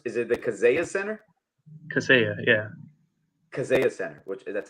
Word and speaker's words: Kaseya: Here in the how do you pronounce this? Is it the Kaseya Center? Kaseya, yeah.